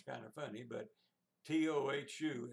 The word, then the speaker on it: tohu: That sounds kind of funny, but T-O-H-U is the English spelling, and it's pronounced tohu.